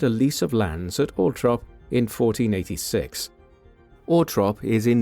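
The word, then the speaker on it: Althorp: lease of lands at Ultrop in 1486. Orrop is in Northamptonshire in the English East Midlands. The pronunciation Ultrop is the preferred one of the Spencer family although is an alternative more common pronunciation.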